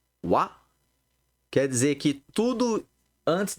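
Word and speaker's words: は: Toda vez que a gente vê um substantivo e logo depois essa partícula que se pronuncia wa, quer dizer que tudo antes dela é sujeito, né?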